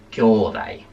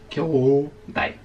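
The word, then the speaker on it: きょうだい: Kyodai, no es kyodai, no se pronuncia la U, es kyodai, ¿vale? O sea que ya sabéis que la U se suele usar en japonés para alargar la vocal.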